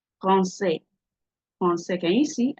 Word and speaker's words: français: Français, français, français. Can you see? I didn't pronounce the S. The S is not supposed to be pronounced.